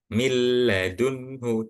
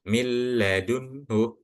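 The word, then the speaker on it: مِن لَدُنْهُ: Milladunhu, ini seharusnya setelah huruf mim, itu huruf nun sukun. Akan tetapi setelah huruf nun sukun ini adalah huruf lam, maka nunnya itu seakan-akan nggak dibaca. Tapi langsung masuk ke setelah huruf mim itu langsung masuk ke huruf lam. Mil, mil. Jadi bukan minal, bukan. Mil langsung masuk ke huruf lam. Dan bacanya pun nggak pakai ditahan atau didengungkan.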